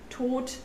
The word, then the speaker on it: Tod: In German, D is often pronounced as T as well, like in Tod, Kind, Bad.